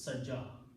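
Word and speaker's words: سجى: Its sound is like a short alif sound. So that's the reason this is saja.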